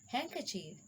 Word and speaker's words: handkerchief: common words valeste handsome handkerchief sandwich so d is silent in these words we cannot pronounce t